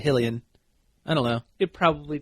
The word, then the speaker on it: Hylian: How do you say that? Shield? Hull Island? It's Hylian. I always said Hylian. Hillian? Yeah, it's Hylian.